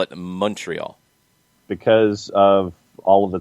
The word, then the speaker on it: Montreal: Montreal.